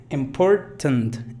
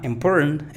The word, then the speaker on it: important: también ten, así, ten, important. Hay varias maneras de pronunciar esta palabra. Important es una, otra es important y otra podría ser important.